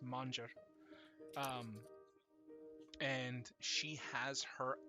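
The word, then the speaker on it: Manjara: a n j a r a but it's pronounced manger um and she has her own clan that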